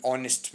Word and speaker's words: honest: an intelligent person, an honest man. अब देखिए HONEST, H तो साइलेंट होता है O की साउंड आ रही है EEIOU.